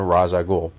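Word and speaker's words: Ra's al Ghul: with two different versions of both Batman and ragul see I pronounced it right the other is a Fantastic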